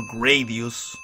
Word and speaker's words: Gradius: job yeah Darius sorry Darius what with this mispronunciation of things remember guys in ski radius no Gradius now here professor Chilean retro gamer teaching